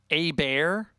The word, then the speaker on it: Hebert: It's pronounced a bear.